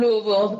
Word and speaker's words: Louisville: So I'm from Louisville, and I was Say it one more time, Louisville.